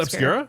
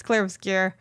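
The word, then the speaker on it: Clair Obscur: It's not Obscura. Oh my god. No, I don't think so. It's spelled O P S. No. Yeah, you're right. U obscure, but I keep saying clear obscure. It's clear obscure.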